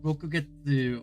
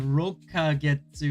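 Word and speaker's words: 六ヶ月: The ka and rokagetsu indicates a time period. They add or pronounce it ka and make it a period rather than an instant.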